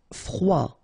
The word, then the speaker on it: froid: Froid. final D not pronounced.